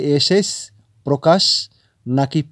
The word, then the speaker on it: প্রকাশ: করছেন প্রকাশ প্রকাশ প্রকাশ তার মানে প এর অফলা প্র এর সাথে একটি ওকার এসে যাচ্ছে প্রো প্রো তাই না বন্ধুরা মানে শব্দটির উচ্চারণ হচ্ছে এইরকম প্রকাশ তো এই প্রকাশ শব্দটিকেই